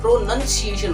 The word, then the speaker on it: प्रोनंसिएशन: तो प्रोनाउंसिएशन नहीं होता है, एक्चुअली में प्रोनंसिएशन होता है।